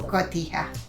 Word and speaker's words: Cotija: Cotija.